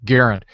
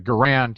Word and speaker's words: Garand: to correct everybody that the M1 Garand John Garand pronounces his name Garand. So all of you people that are calling it a Garand, you're just all wrong, and you need to go back to school.